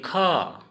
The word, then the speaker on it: খ: जैसे हिंदी में ख, ख को असमिया में खो। क्या कहते हैं? खो। और इसको हम खो हिंदी में लिखकर बता रहा हूँ। खो कैसे ख को खो कहते हैं।